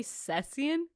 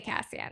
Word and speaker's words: Cassian: there's no way and how do you say you say cesan no I say Cassian oh okay I thought